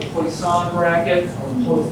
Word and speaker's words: Poisson: I mentioned to you before that you have this thing called a Poisson bracket, or Poisson. I'm not a fan of French pronunciations.